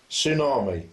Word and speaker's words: tsunami: waiting or English lesson tsunami the tea silent psychology the p is